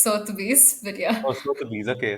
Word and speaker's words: Sotheby's: Uh, have you heard of Sobetes? I Yeah, don't so know if I'm pronouncing it right. Sotheby's. It's Sotheby's, but yeah.